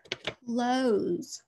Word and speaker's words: close: Close. Please close the door. Ready? Spell it. C-L-O-S-E. We hear that Z sound, don't we? And we've got to remember it's not S. It's a Z.